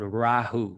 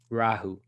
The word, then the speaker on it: Rahu: to pronounce it properly it's called rahu so you really pronounce the ah rahu and even the sound